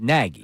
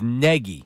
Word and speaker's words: Nagy: He pronounces it Nagy. I go with the Nag. So I Nagy. found a Chicago reporter that said it's like Peggy, but with an N. So it's Nagy.